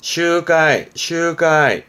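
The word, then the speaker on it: 集会: 발음은 슈가이.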